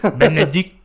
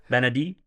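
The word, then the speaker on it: Bennedict: Benedict. Benedict. Don't pronounce the T. Benedict.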